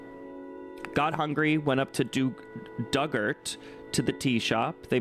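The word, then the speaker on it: Dugort: Ort rhymes with hurt. Duggart.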